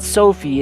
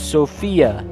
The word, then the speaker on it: Sofia: wrong this whole time her name is not Sophie it's Sophia golly Sophia set the